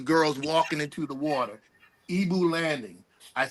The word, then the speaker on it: Igbo: Ibu landing. I say that to say the Ibu DO like Yeah. In Nigeria. Yeah. It's called It's Ebo. Ebo. Yes, it's spelled it's spelled Igbo.